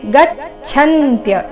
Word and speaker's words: ಗಚ್ಛಂತ್ಯ: ಜೋಡಿಸಿ ಹೇಳಿದಾಗ ತನ್ನಿಷ್ಟಾಸ್ತತ್ಪರಾಯಣಾಹ ಗಚ್ಚಂತ್ಯ ಇಲ್ಲಿ ಗಚ್ಚಂತ್ಯ ಛ ಮಹಾಪ್ರಾಣ ಚೆನ್ನಾಗಿ ಕೇಳಿಸಬೇಕು ಗಚ್ಚಂತ್ಯ ಪುನರಾವೃತ್ತಿ ಪುನರಾವೃತ್ತಿ ಚರಣದ